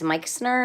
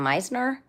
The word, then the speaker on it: Meixner: It's spelled with an X, the M-E-I-X, but I think it's Meixner instead of Meisner. I always say it wrong.